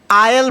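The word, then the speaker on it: aisle: पढ़ेंगे ये होता है आयल पढ़ते हैं इसको ए आई एस एल ई आयल होता है दो रो थिएटर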